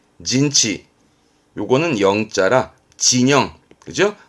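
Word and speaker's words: 陣地: 진지입니다 그 진을 치고 있는 지역을 말하는 진지 발음은 진치 진치 요거는 영자 진영 그죠 발음은 징에 징예 이것도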